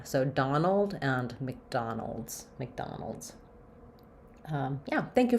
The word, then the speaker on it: McDonald: names with an Mac but again another reduced vow because it's not stressed so it just sounds like a short little um I vowel there Mick Mick Mick so almost no vowel again kind of I'm going right from the m to the C Sound MC McDonald and then um because